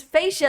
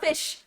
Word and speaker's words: Fasia: It's Fasia and not Fish.